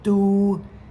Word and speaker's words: 都: Also third tone, do, and 4th tone, do. No second tone, Homer. This is the most common character pronounced do. It is also pronounced du.